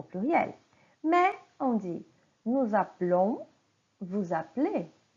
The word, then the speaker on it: appelons: Mais on dit nous appelons, vous appelez. Le son est fermé. Oui, le et que vient avant la lettre L, aux personnes nous et vous, il n'est pas prononcé. Nous appelons, vous appelez.